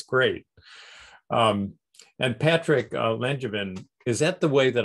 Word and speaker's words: Langevin: And Patrick Langevin, is that the way that I pronounce your name? I don't want to mispronounce it, please. That works. Yeah, Langevin or Langevin. I'm flexible.